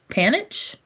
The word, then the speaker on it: panache: So she's going to, I don't know how to pronounce it. I'm sorry. Panache? Panache.